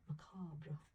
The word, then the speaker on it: macabre: And I put haunting, cursed, and macabre, or macabre, depending on how you say it, from wherever you're from.